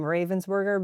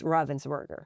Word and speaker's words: Ravensburger: if anybody's calling them Ravensburger, because I think that's what actually most people in the US are doing all the time. But I think the right pronunciation is Ravensburger. Okay, I'm going to see